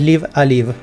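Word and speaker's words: Live A Live: de un juego y lo pronunciaba como lo leía que en todo caso no está mal mal tampoco la pronunciación no está mal leído pero oficialmente es Live Alive el que está también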